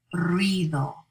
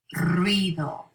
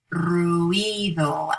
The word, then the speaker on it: ruido: So look at this word, for example, ruido, ruido. It's just two syllables. Some students might tend to say ruido as 3 syllables, but it's 2, ruido.